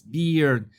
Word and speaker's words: beard: I know that it's not bird, it's beard.